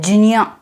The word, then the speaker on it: ज्ञ: come to know that it is J plus and is supposed to be pronounced as G now does that mean